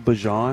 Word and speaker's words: Bijan: Did he just call him Bijan? Yes, he did. That's the correct pronunciation.